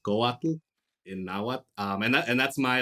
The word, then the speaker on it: Couatl: you pronounce it as Couatl, with like almost like you're saying waddle. That's fine. But if you wanted it to be more accurate, it'd be Couatl.